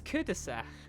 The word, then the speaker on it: cul-de-sac: Ah, you don't pronounce the L, so it's cul-de-sac. Cul-de-sac. Yeah, the British bastardization of it is pretty much cul-de-sac.